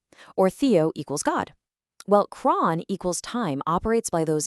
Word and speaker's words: chron: Here it is, c h r o n, pronounced cron.